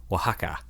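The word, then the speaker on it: Oaxaca: that talk about how to pronounce it it's pronounced Waka oh how about that Waka o a xaca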